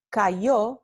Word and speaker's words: cayó: Mientras que cayó, he or she fell, ¿no? Se pronuncia con la fricativa palatal ya o aproximante.